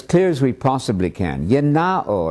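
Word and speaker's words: γεννάω: Yenao, I'm using the modern Greek pronunciation.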